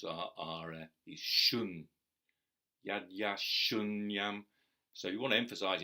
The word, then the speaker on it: śūnyam: app he's a light syllable the the strong syllables are our shun yeah yeah shun YUM so you want to emphasize in English would